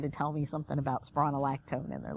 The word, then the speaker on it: spironolactone: Now, this drug is called spironolactone. Students always have a hard time with this one. Spironolactone. Just like it's spelled.